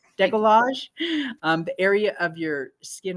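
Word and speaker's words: décolletage: Decolletage. Decolletage.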